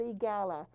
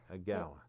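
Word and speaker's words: EAGALA: The other organization is called EGALA, and it's an acronym for Equine Assisted. Yeah, spell it. So E-A-G-A-L-A. Okay, EGALA.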